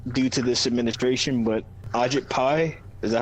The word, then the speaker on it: Ajit Pai: Like, I want to say that it's all due to this administration, but Ajit Pai, is that how you say his name?